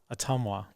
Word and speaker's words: Ottumwa: How do you pronounce that town? Ottumwa.